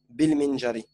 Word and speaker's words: بالمنجار: Mais comme ici, c'est une continuité, il y a un bi, tu dois pas prononcer le alif. Tu dois dire bil qalami, et ici aussi, bil minjari.